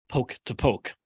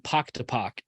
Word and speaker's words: Poke to Poke: That is the correct pronunciation, poke to poke. When I went to Pensacola, I was saying pock to pock, and I got corrected and told, no, it's poke to poke.